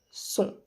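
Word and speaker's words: sont: le s il elle son on prononce pas non plus le T alors on passe à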